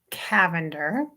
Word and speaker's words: Cavender: check that out it's Rebecca Cavender spelled like lavender but with the c Cavender Rebecca Cavender docomo on